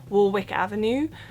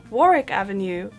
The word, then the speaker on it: Warwick Avenue: pronouncing it wrong because I was under the impression this is just called Warwick Avenue but I recently learned it's actually not Warwick Avenue it's Warick Avenue pronoun sounded like it